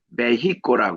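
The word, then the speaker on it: México: 이것이 접합니다이 멕시코 이거의 현재 발음은 메히코 발음을 합니다 메히라 뜻은 전쟁의 신인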